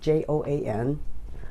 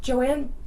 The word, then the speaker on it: Joan: My first name is pronounced Joanne, but it's spelled Joan, Joan.